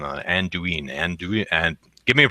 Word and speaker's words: Anduin: I still thought there was a. Oh, it is Anduin. And okay. it is I thought there was a hard E in it, but what do I know?